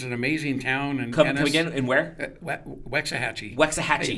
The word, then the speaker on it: Waxahachie: amazing town and where Waxahachie Waxahachie I call her watch a Hatchy once and then they laughed at me and then I heard the proper way to say is that like in